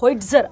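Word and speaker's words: Howitzer: Artillery था जिसका नाम था होइज्जर। अब स्पेलिंग मैं यहां पे लिख देती हूं।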